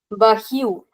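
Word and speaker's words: barril: Bahiu. In the word bahiu, we have two syllables, ba and hiu. We can see that there is a double R in the last syllable, ba, hiu.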